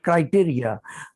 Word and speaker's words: criteria: It is not criteria. We pronounce it criteria.